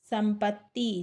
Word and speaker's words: संपत्ति: स, संपत्ति, स माधा है, पा ता में छोटी की मात्रा है और ता आधा है, संपत्ति।